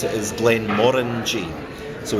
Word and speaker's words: Glenmorangie: to pronounce it is Glenn Mori so the emphasis on the orange so like orange the fruit yeah okay good and